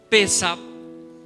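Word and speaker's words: Pesaj: cuando oigan la palabra Pesach, no sé si sí se puede poner en la pantalla de pronto para que la veamos. Bueno, es con P-E-S-A-J, Pesach, ahí está, Pesach con acento en la E, quiere decir Pascua, y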